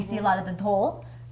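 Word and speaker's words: dhol: We see a lot of the dole.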